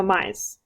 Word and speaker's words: Mize: Rhymes with pie. Okay, so Mize.